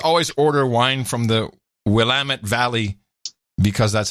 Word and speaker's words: Willamette: up right just always order wine from the Willamette Valley because that's how you pronounce it blam it yep we're Lam it because I've been I've cruised to that area